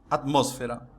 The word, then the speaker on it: atmósfera: Vejamos: democracia, cerebro, imbécil, imã, álcool, alguien, alergia, cráter, elogio, academia, atmósfera, fútbol, gaucho, límite, oxígeno, régimen. Viu que a sílaba tônica é diferente de como se pronunciaria essa palavra em português?